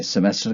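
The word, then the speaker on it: Semester: तो उसको इंग्लिश में सेमेस्टर कहते हैं। जर्मन में भी सेमेस्टर कहते हैं, लेकिन आखिर में सेमेस्टर नहीं कहते, सेमेस्टा ऐसे बोलेंगे, इसको प्रोनाउंस करेंगे सेमेस्टा।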